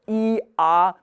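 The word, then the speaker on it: I-A: The German letters I and A are pronounced as the donkey bray. So E-A is what the donkey is singing here.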